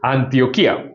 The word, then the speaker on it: Antioquía: es una palabra eh aguda que tiene que tiene acento en la i Antioquía, siendo la última sílaba una sola porque hay diptongo. Entonces dice Antioquía, así es que se pronuncia, ¿no?